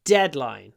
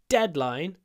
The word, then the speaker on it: deadline: deadline the deadline the deadline now here we can't stretch a duh so what do we do we have a bigger pause before it to put the stress on that syllable the deadline um uh the so